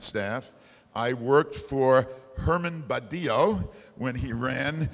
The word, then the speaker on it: Badillo: on them that said brillo for from Badillo is how he hoped people would pronounce it so they wouldn't think